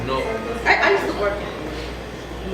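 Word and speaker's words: Newark: It's N-O-R-K, that's how you pronounce it. Okay. That's how you pronounce it. It's N-E-W-A-R-K. Oh, okay. It's North.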